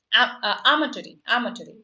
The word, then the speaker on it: amatory: Amatory, okay. That's how it is pronounced.